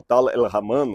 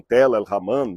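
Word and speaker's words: Tall el-Hammam: Tal al-Haman, ou Tal el-Haman, alguns pronunciam Tel el-Haman, não importa aqui, é, segundo alguns especialistas, o sítio arqueológico da antiga cidade de Sodoma.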